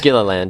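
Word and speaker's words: Gilliland: to her I don't know how to exactly pronounce her last name so Aaron please forgive me but uh gilland or gilland gilland yes thank you Baxter I should asked you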